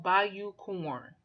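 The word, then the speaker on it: Bayou Corne: Go look up Bayou Corn. Corn is spelled Corne. Like Cornell without the L's.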